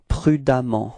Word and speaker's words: prudemment: Okay, so you will get for the adverb it's prudemment. Okay, and the strange thing is that you will write ement for the adverb, but then you pronounce as if there was a a.